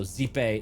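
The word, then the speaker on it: Xipe: Also, zipe is spelled X I P E.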